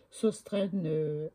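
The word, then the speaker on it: Sostrene: Ça s'écrit Sostren S-O-S-T-R-E-N-E et Graine G-R-E-N.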